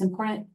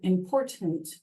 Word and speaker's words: important: two T's and it's important I believe that it's best to pronounce both T's I've noticed that some